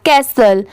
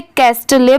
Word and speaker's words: castle: आज का हमारा टॉपिक है ये स्टोन कैसल, STONE, इसे पढ़ेंगे स्टोन, CASTLE, इसे कैसल पढ़ेंगे। बहुत सारे लोग इसे कैस्टले पढ़ते हैं, बट नहीं, इसकी साउंड क्या आती है, कैसल की।